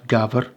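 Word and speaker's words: gafr: Goat is very similar, that probably is going to be pronounced gaver, in Welsh gaver, hoc, shebok, and in Welsh hebog.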